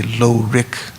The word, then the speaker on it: lorig: Although the word rik, when we say lo-rik, generally in other texts it's spelled slightly differently, and it just talks about knowing, awareness and knowing.